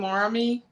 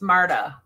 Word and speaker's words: Marta: And some of these came from, how do you say her name, Marmy? Yeah, her name is Marta. Marta, okay.